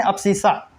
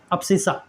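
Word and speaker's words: abscissa: इसको बोलते हैं अप्सिसा। इसको बोलते हैं अप्सिसा। ठीक है? ठीक है?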